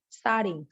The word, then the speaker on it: starting: way she said it she doesn't pronounce the G in starting this is common with words when in the ing form and the T and starting is an American tea and sounds like a starting studying finally because